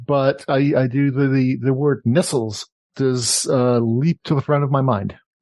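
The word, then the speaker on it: Nestlé: remember that in Europe, it's actually pronounced Nestles. Nestles? Really? Not Nestle.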